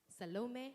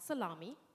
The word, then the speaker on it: Salome: So my name is Salome. It's not salami, it's not shalom, it's not Sali, and you can't just